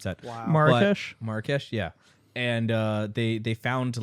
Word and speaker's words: Marrakech: They in Marrakech. Sorry, I don't know how to pronounce that. Wow. Marrakesh, yeah.